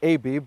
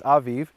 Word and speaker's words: Aviv: Some people in English pronounce it Aviv, but in Hebrew it's Aviv.